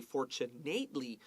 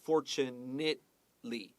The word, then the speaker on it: fortunately: and a lot of students want to say fortunately, but this is wrong because when our ate is in an adjective or in an adverb, 那个 ate 会发短 I, fortunately.